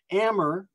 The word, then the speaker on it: Amber: of amber palace um amber but spelled like amber a-m-b-e-r so this is this